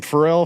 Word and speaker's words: Ferrell: anyway how do you say your last name frell frell frell frell Will frell Will Robbie will is your name William no oh Robinson Robinson yeah two last names so Robinson frell yeah that's kind of dope actually yeah people